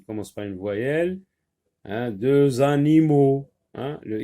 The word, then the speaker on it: deux: Deux, oui, ne se prononce pas quand le mot de est tout seul ou suivi d'un mot qui commence par une consonne.